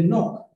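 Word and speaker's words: Knock: Hay otra aparición que se da en el siglo XIX, que es la aparición de Enoch. Se escribe con una K inicial, K-N-O-C-K.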